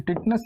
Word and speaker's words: टेटनस: सकते हैं आप, इसको टिटनस बोल सकते हैं या टेटनस बोल सकते हैं। टिटनस या टेटनस, इसको हम लोग प्रोनाउंसिएशन करते हैं, टेटनस हो जाता है, टेटनस हो गया।